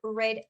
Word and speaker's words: read: Eh, el verbo read, tenemos same writing, misma escritura, diferente pronunciación. Eh, cuando quiero pronunciarlo en el presente, I read a book every day. Pero en el pasado, I read an interesting book last year, for example, se pronuncia como el color rojo, ¿no?